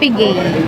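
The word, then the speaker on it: Piguet: Odimars Pigay. Pigay. Pigi o pigi? Pigay. Ayun, bakit? Silent T po.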